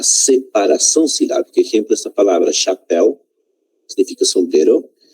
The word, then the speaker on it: chapéu: Exemplo, esta palavra chapéu significa sombrero. Chapéu tem duas sílabas, miren, está separado por sílabas. Cha, uma sílaba, e pel, outra sílaba. A sílaba tônica é la pel, né?